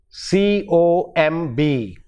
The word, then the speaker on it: comb: letters is the sound b the sound in in in a word like comb c o m b comb actually it is the last sound is not bur but ma comb have you combed your hair there is no bur sound in the same way